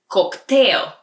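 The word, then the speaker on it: коктейл: order a cocktail cocktail it's almost the same but just a little different pronunciation in Bulgarian cocktail and if you're spying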